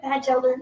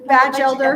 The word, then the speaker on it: Batchelder: Yep, Batchelder. Batchelder. A batch of elders in a church with no T in the back.